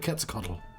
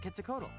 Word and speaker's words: Quetzalcoatl: This is how I know how to pronounce the word Quetzalcoatl. And I want to know more about the Aztec god, Quetzalcoatl.